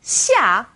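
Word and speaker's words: 下: Now this sound is somewhere in the middle of SH and S.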